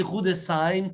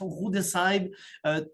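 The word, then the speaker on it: Rüdesheim: et Gretel qui est rou de S qui se prononce on prononce pas la h roue de s dans le sud-ouest de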